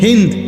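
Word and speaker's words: هند: হিন্দ ওই মহিলার নাম, যাদের বাংলা ভাষায় হিন্দা বলে, মূলত হিন্দ নাম, আকারটা নাই আর কি।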